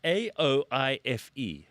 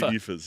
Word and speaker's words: Aoife: Aoife. Aoife. Yes. Yeah. Okay, you probably know some people who I know got these like names, right? I think I know like 3 Aoifes.